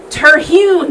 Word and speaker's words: Terhune: Terhune, that's how you say it.